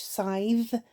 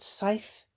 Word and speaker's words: scythe: I would say scythe with a hard TH, scythe, not scythe, like Rachel said.